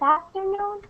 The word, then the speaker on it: afternoon: But the only thing is there, Rose, is for the word afternoon, which one do you stress? Which syllable do you stress? No, the second one? You mean the syllable noon? Yes. After, the first one. Afternoon. Like that? Yeah, afternoon. Afternoon. That's the stress here.